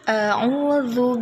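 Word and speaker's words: أعوذ: Ini ada mat, jadi bacanya zu. Ujung lidahnya agak digigit sedikit, jadi cara bacanya a'udzu billahi hanya ha besar.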